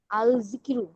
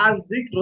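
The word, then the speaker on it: الذكر: আল জিকিরু, জিকির করা বা আল স্মরণ না, করা। আল জিক্রু। হ্যাঁ, সুন্দরটা উচ্চারণ হলো আল জিক্রু।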